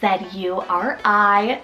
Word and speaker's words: Zuri: Zuri, spelled Z-U-R-I, Zuri.